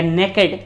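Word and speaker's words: naked: हो जाएगा नेक्ड या नेकेड. ठीक है, प्रोनाउंसिएशन अलग अलग भी हो सकता है. कोई इसको नेकेड भी बोलता है, कोई नेक्ड भी बोलता है.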